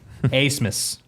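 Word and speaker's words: Abmas: We know Max Asmus. Asmus. B is silent. Asmus.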